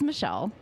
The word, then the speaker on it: Mechille: do you pronounce that it is Michelle um so my parents